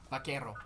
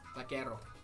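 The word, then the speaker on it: vaquero: But you roll Vakerro. Okay. Gotcha. Vakerro. The old the R of it.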